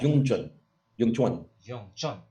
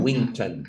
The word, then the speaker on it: Wing Chun: It's like instead of like doing the hard W's, just call it like Yung Chun, right?